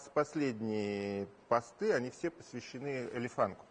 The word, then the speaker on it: Элефанк: Просто я смотрю, что вот последние посты, они все посвящены Элефанку. То есть я правильно ударение? Да, Элефанк, верно, да, есть такая группа.